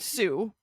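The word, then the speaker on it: Sioux: they are not related both do come from French hence all of the letters we don't pronounce uh the word for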